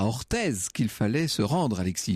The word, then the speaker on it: Orthez: Mais si je devais comparer peut-être Orthez à une... Vous dites Orthez, vous ? Orthez, bien sûr. On ne prononce pas le Z.